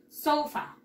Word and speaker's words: sofa: Ah, se pronuncia sofa. ¿Cómo, Miss? Sofa. ¿Cómo? Sofa. Como si fuera, como si acá hubiera tilde, pero no la hay.